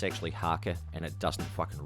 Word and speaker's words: haka: Like I said, it's actually haka and it doesn't fucking rhyme at all.